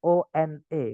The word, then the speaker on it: one: Tulisannya one itu one, teman-teman. O-N-E. Nggak ada A-nya, nggak ada W-nya. Tiba-tiba bacanya one.